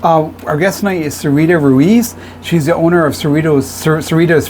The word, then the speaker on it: Ruiz: Ruiz? You did this time. Sometimes I'm bad with pronouncing.